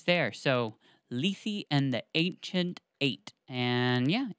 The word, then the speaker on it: Lethe: So for those of you that are just listening and haven't cracked open the book, Lethe is Lethe.